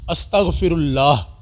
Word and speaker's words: استغفر اللہ: صرف استغفر اللہ پڑھیں، تھوڑا سا تلفظ کا خیال کر لیں۔ استغفر اللہ، اینڈ پر ہا آ رہی ہے، ٹھیک ہے، یہ بھی ادا ہونی چاہیے۔ اس طرح نہیں کہ